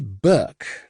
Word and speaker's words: Burke: more commonly known and Audrey Burke to rhyme with Burke.